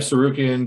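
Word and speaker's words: Tsarukyan: It's called Sarukian. We call him, the T is silent.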